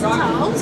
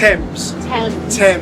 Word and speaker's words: Thames: Is it pronounced Thames or Thames? How do you pronounce it? Thames, We were yeah.